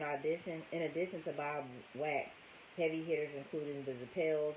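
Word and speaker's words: Wachs: now she puts it wax spelled w HS pronounced wax had discovered Eddie mercy and Bob's other clients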